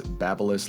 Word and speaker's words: Babyliss: I think we got a consensus that it's Babyliss, like Babylon, I think was the best comparison I heard.